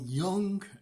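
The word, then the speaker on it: Jung: been reading uh Dr Carl Young a young guy is spelled j-u-n-g uh Carl Young was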